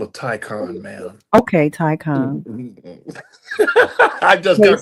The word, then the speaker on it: Taycan: And the Porsche Taycan. Okay. I'll take the Taycan over that any day. Well, I'm gonna correct you. I get to correct you. It's called a Taycan, man.